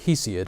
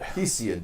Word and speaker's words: Hesiod: The Greek writers such as Plato and Hesiod. Am I saying his name right? In English, we usually pronounce it Hesiod. Hesiod, thank you.